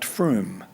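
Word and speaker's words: Frome: but if you want to look it up pronounced Froome some years ago a GP in Froome came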